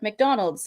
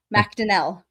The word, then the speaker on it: MacDonnell: So yeah, so you'd look at that thinking like, oh, it's pronounced like McDonald's, like McDonald. No, MacDonnell. MacDonnell. Yeah. Yeah, I got the Donnell, but yeah, I thought it would have been like McDonnell, but no, MacDonnell and not McDonald.